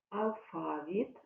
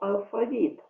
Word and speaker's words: алфавіт: сьогодні згадати з вами алфавіт або алфавіт зверніть увагу подійний наголос і слова синоніми азбука